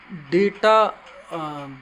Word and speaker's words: data: इसको कभी कभी डाटा भी कहा जाता है या फिर डेटा भी कह सकते हो। तो इसका उच्चारण दोनों तरीके से होता है, डेटा या डाटा।